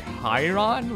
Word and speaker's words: Chiron: It's apparently pronounced Chain of Chiron, which how is C-H-I pronounced Kai?